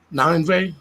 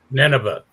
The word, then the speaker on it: Nineveh: to go and warn the city of uh nve is that how you pronounce it Dan Nineveh Nineveh Nineveh and there's some nevas in this